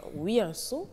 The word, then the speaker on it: Wianso: On a appris aujourd'hui tout ce qu'on peut savoir sur l'enfant Wiyanso. Il est bien prononcé, hein? Oui, Wiyanso.